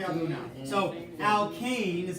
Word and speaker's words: alkane: So alkane is how you say the first one.